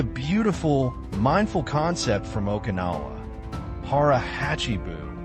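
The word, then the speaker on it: 腹八分: Harah hatchibu pronounced harahachi buu.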